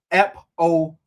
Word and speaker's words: apophenia: You say it like apophenia.